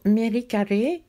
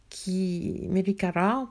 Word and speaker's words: Merikare: Dans les enseignements pour Merikare, Merikara plutôt, Merikare c'est à la française, mais enfin ça s'est jamais prononcé ré, c'est pour ça que